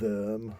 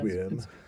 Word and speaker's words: wyrm: But then, but that was a worm, or I think that's pronounced sometimes worm or worm. WYRM.